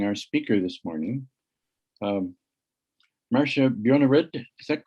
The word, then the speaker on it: Marcia Bjornerud: uh just by introducing our speaker this morning um marcia bjornerid is that correct pronunciation good she is professor of geology and